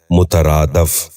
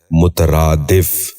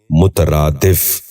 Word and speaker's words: مترادف: سنیے، مبہم۔ 10واں اور آخری لفظ ہے مترادف۔ یہ غلط تلفظ ہے، درست تلفظ ہے مترادف۔ دوبارہ سنیے، مترادف۔ بچوں آپ بھی اس